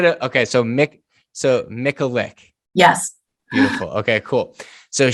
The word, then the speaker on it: Michalik: today i have jennifer i i can you pronounce it for me yeah it's it's myclick it's like nickelope but without the alcohol perfect and i should have okay so mick so mickalick yes beautiful okay cool so she is a